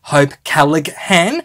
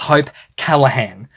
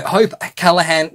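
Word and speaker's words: Hope Callaghan: the author's name as hope cigan because I was pronouncing every single letter in the surname the G is actually silent in her surname so it's hope Callahan and uh so hope Callahan just thank you thank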